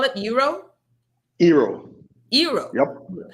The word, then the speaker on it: Eero: Eero? Eero. Eero. Yep. How do you spell it?